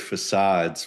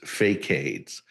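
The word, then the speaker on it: façades: Yeah, when I was a kid, I always thought the word facades was fakeades.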